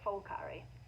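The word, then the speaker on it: Phulkari: it's was a p um but apparently they pronounce it fulkari um and then it's really interesting because now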